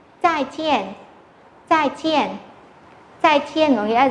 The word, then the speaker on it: 再见: Tiếp theo chúng ta có một từ, đó là từ này có hai thanh bốn đứng liền nhau. Và đọc rõ hai thanh bốn này ra nhé. 再见, 再见, 再见 có nghĩa là gì ạ?